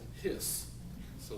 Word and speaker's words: His: It's spelled H-I-S, like his, but if they said his, then of course somebody'd be mad and said, what about mine? It's a hers, right? So they pronounce it His, so they can't do